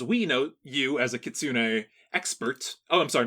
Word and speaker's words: Kitsune: when it comes to our current topic um Kitsune excellent pronunciation by the way when I was a